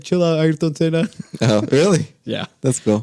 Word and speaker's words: Ayrton Senna: Yeah, Ayrton Senna.